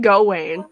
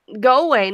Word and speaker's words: Gawain: I was like because apparently that's how you pronounce his name Gawain according to fate go away you know even people in my comment section on my fake grandeur girl let's plays Oh like it's go away not die way and then